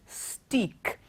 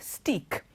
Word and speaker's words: steak: it it's sounds or it seems like it's pronounced as stick because te aka stick so we think you add an S to it also the word would sound stick but that's what how it's pronounced it's not stick it is stick so next time you